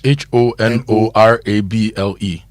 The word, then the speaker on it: honorable: How about h o n o r a b l e? Honorable. Not honorable.